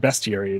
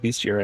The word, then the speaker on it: bestiary: they were talking and they said bestiary and they kept on saying bestiary and I'm like what is a bestiary and then like I was looking and I'm like oh it is spelled bestiary but it's about beast and I so I'm just going to keep calling it beastiary I think I don't